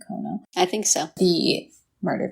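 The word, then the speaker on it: Kono: who is tim cono i think you say his name kona i think so the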